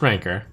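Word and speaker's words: rancor: hatred for the alliance i also just learned that it's pronounced ranker so wow cool cards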